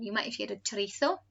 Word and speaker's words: chorizo: And you might have heard of chorizo. Most people here want to pronounce it chorizo, which can be spicy or not.